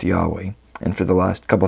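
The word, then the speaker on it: יהוה: Most scholars believe God's name was originally pronounced Yahweh, and for the last couple thousand years, Jewish people have been saying Adonai, which means my master or Lord, in place of pronouncing God's name.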